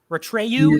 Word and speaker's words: Atreyu: Ratreyu is the correct pronunciation.